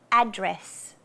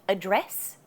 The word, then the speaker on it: address: then probably you should just emphasize the first syllable. For example, adult. The emphasis is on the a. Adult. Another one is address. Not address, address.